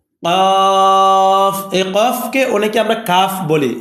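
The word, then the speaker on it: ق: করেন ফা ফা ফা কফ কফ এই কফকে অনেকে আমরা কাফ বলি এ কফকে কাফ বলা যাবে না কফকে কফ বলতে হবে এ হরুফটার নাম কফ কাফ আর এটা হলো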